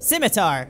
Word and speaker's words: scimitar: to break let's go back and equip fashion scimitar ah that's how you pronounce it okay good much better all right